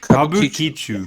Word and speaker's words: Kabukicho: If you guys can pronounce that, you guys Kabu- want. Kabu, fuck, Kabukicho.